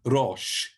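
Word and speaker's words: ראש: do in english but a little bit more role like in spanish or italian or other um continental languages so rosh is the word for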